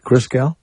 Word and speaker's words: Christgau: Christgau, am I saying it right? Christgau? Yeah, that's it. Like Christ and then G-A-U.